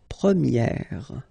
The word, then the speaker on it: première: about the masculine form, you pronounce it premier, okay? Premier. And then for the feminine form, you will get première. Okay, so it's open, this E sound.